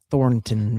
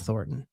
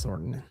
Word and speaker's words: Thornton: And she pronounced Thornton very formally. I'm like, "Nobody calls it that. It's Thornton, okay? It's Thornton. Thornton."